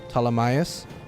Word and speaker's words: Ptolemaeus: I want to say that's how you pronounce the man's name. Ptolemaeus. The P is indeed silent.